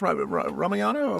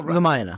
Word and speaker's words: Ramayana: and the the the the the how do I pronounce Ramayana? Ramayana.